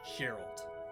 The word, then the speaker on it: Gerald: They say Gerald with a J. So, literally pronounce how it's spelled. Gerald. It bugs me. I want to be Geralt as well, but it's not.